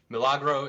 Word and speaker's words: Milagro: very unique kickstarter that you're launching called uh malagro is that how you pronounce it yes yes uh milagro is uh spanish for miracle it's a uh